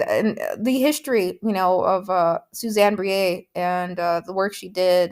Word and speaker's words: Briet: Publisher's Weekly article that said it rhymes with plie, I believe.